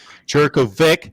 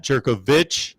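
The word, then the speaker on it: Jurkovec: it at some point jerk of vic not jerk of my bad i continue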